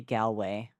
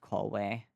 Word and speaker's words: Galway: It's supposed to be Gway, not Callway.